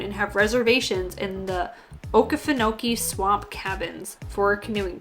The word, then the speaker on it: Okefenokee: try and figure out how to pronounce that Okefenokee is what I've always been told it is so shortly before they